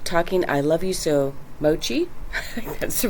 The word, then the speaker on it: Mochi: Hi, it's Miss Priscilla at the Apple Notice Library, and I am book talking I Love You So, Mochi. That's the right pronunciation.